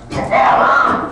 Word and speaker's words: Pfarrer: He goes, "My name is Pfarrer. That's pronounced Pfarrer."